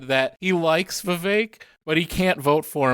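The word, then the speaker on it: Vivek: fourth was v ramaswami v sorry rhymes with fake at 7.7 % he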